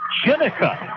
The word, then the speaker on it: Jenica: It's the Willis sisters, number 15, Jada Willis, but they also have number 20, and it's Jenica. I do apologize about the mispronunciation, but the other Willis name is Jenica.